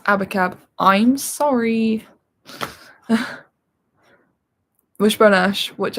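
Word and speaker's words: Abacab: i have got um it's pronounced abba cab i'm sorry wishbone ash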